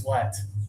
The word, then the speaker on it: sweat: is uh uh uh like with Mets, even though it has an ea, this one is sweat.